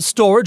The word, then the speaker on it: Storj: let's jump in to storage it's sto RJ pronounced storage according to the website selling at $2